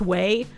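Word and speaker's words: Ouai: But, uh, I moved over to using, uh, I think it's pronounced way. It's spelled o y, but I'm pretty sure it's pronounced weey.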